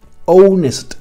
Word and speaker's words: honest: Fijaos que cuando yo pronuncio estos dos sintagmas, an hour, no estoy pronunciando la H. An honest man, honest man, no estoy pronunciando la H.